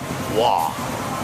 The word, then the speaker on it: Waugh: Waugh. W-A? U-G-H, but you only pronounce the first 2 letters.